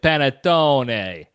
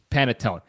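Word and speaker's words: panettone: Nicki sticks of the world will overemphasize it paneton it's panetone p a n e t t o n e just pronounce it how it's spelled it is sort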